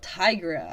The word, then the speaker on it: Tigra: um deep relationship now tigra i gotta i gotta contain it like i keep wanting to say tiger i gotta gotta say it right tigra uh tiger was the